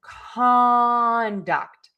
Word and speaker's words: conduct: like run an orchestra, then we are going to stress syllable number two, the duct. And we are going to unstress syllable number one, making it the schwa.